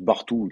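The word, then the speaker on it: Bartuğ: jeune turc de Galatasaray, Bartug, ça se prononce Bartou d'ailleurs, je me la pète en ce moment, on prononce pas le G, Elmaz, pardon, va probablement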